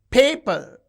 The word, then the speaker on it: paper: In a disyllabic word, we can observe this. Paper. You can see the first syllable is stressed.